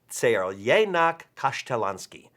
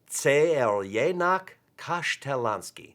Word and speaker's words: Crljenak Kaštelanski: the actual spelling, and the pronunciation is Crljenak Kaštelanski. Don't try to say that 5 times fast, you may need a tissue. But it's Crljenak Kaštelanski.